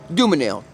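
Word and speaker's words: Dumesnil: is where I live on dooms nail pronounced doom a nail somebody tell me please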